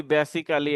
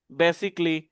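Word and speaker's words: basically: এটাকে বলি বেসিক্যালি। এটাকে বলি হিস্টরি। এটাকে বলি ওয়েনেসডে। এরকম ভুলভাল উচ্চারণ করি আমরা। তো এগুলো সঠিক উচ্চারণ হচ্ছে ডিফারেন্টলি, বেসিকলি, অনেস্টলি, ওয়েনসডে।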